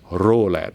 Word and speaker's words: ROLED: I'm gonna coin the term ROLED, and because it rhymes with Rolex, I always like this a lot.